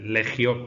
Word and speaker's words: legio: Bueno, pues en realidad lo que pasa es que en el latín clásico no se pronunciaba así, la G con la I se pronunciaba suave, legio, ¿eh?